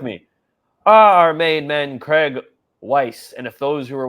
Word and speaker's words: Weiss: Our main man, Craig Weiss. And if those who were watching the last show, it's Weiss, like W-I-C-E instead of like rice.